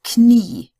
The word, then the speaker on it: Knie: Unlike in English, we don't have a silent N. It gets pronounced. So it's Knie, Kneipe, Knopf.